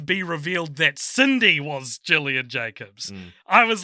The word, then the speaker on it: Gillian: um gillian slash j my mum's name is spelt the same way and it's pronounced jillian i don't know why people say gillian jacobs pronounce the scenario